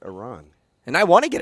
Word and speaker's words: Iran: know I know it won I know it's pronounced Iran now I don't know if you saw Iranians Iranians that's what I that's why I don't understand the pronunciation it's Iran and I want to get it right I